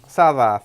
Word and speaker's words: Sothoth: Sothoth. Is it my saying it wrong? Sothoth. No. Sothoth.